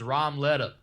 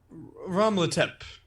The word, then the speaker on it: Romletep: This guy's name was Romleta. Romletep is the correct pronunciation there.